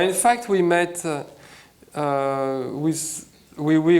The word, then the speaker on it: Oui Oui: Well, in fact, we met with Wee Wee, which is spelled like yes, yes in French.